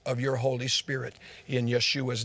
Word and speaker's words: Yeshua: The Hebrew version of it would be Yeshua, though. Jesus, Greek, Yeshua, Hebrew. He probably, or maybe it was Aramaic, I'm not sure. He probably walked around pronouncing his name Yeshua, personally.